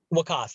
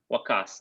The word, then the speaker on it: Waqaas: I think unless there's any further questions, Waqaas, we're gonna. How do you say your name, by the way? Waqaas, like a K. Waqaas.